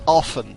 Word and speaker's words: often: It the pronunciation is often without T.